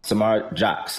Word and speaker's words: Samara Jox: Samara Jox, that's how you pronounce her name.